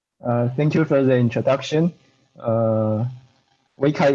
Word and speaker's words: Weikai: Weikai is a correct pronunciation, by the way.